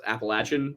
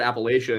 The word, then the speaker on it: Appalachia: And so I'll talk to people, or else like I used to pronounce it Appalachia until Wendigoon told me I sounded like a Fed, and then I started saying Appalachia.